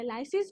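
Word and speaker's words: lysis: है वो finally bacterial wall का लिसिस करके या लाइसिस करके, आप कुछ भी प्रोनाउंस कर सकते हो, फाइनली फेज जो है वो रिलीज हो जाएगा इन दिस सिक्स्थ स्टेप।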